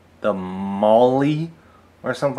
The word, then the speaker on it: MOLLE: l l e but it seems to be pronounced not mole but Molly so kind of a